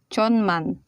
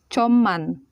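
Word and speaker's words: 천만: hangman hangman 10 million there is another irregularities in this one if you read this it will be pronounced as John man but the proper pronunciation is shaman shaman 100 million oh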